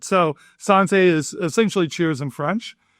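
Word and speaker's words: Santé: So, Sante, and for the record, correcting the pronunciation of the name, it's a it's a French word. So, Sante is essentially cheers in French.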